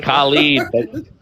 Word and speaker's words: Khaled: It's Khali, you know, like it is it is unheard of in Yeah, like Khaled. Yeah, it sounds like Khali, but you pronounce it Khaled.